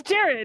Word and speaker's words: Gerard: Gerald? It's Jared. It's Gerard. Capital? It's Jared, but it's spelled funny.